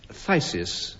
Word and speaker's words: phthisis: Phthisis or phthisis. Phthisisis. And you can pronounce it either way.